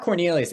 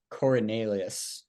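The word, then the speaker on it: Coriolanus: its first name Cornelius it's not Cornelius it's like Cornelius yeah so we're just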